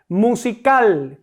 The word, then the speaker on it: musical: Musical, ¿cuál es mi sílaba tónica? La última, cal, musi cal.